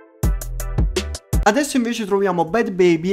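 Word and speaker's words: Bhad Bhabie: troviamo bye baby e comunque si pronuncia così perché ho cercato su internet con gli si pronuncia bye baby mi raccomando scrivete nei commenti che non si pronuncia così perché ho cercato su internet mi sono informato cercato le fonti e quindi si pronuncia bad baby e comunque chi è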